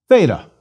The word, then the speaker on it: Theta: the Greek T So a th sound th for Theta is normal and common please repeat Theta th